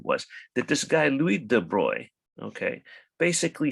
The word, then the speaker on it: de Broglie: all right and so this is de bruy the guy's name it's spell it looks like de broglie but it's french so it's de bruy like that interestingly i think there's